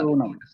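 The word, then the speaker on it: मातृणाम्: Matra Rinam, Matrinam. Rukara. Matrunam. Yes. Rukara. There's no Okay, stress. Matru is not there. Matrinam. That's it. Matrunam.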